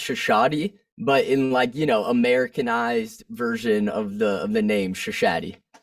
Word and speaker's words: Shashaty: Asher, is it Shashaty? How do I say it? Is it Shashaty? Yeah, it's actually, I think it's properly pronounced Shashaty, but in Americanized version of the name Shashaty.